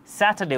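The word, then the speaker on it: Saturday: যার কারণে এখানে আর উচ্চারিত হয়নি। স্যাটারডে উচ্চারিত হয়েছে। আর অনুচ্চারিত ছিল।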